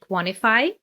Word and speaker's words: quantify: So we drop the sound T in the word quantify.